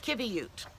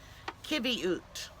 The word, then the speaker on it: qiviut: I was looking for Kibby ute and this is how it's spelled Qi VI ut there's not a qu so the Q has the K sound and then you have